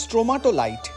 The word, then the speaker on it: stromatolite: যেটুকু বুঝলাম স্ট্রোমাটোলাইট, হ্যাঁ সত্যি সত্যি উচ্চারণটা স্ট্রোমাটোলাইট।